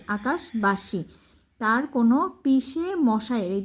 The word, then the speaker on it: আকাশবাসী: আকাশবাসী, এই যে আকাশ সরে কয়কার কা তাল বসা, আকাশ এটা আলাদা উচ্চারণ করবা, তারপর বয়কার বা দন্তশাসী, আকাশবাসী।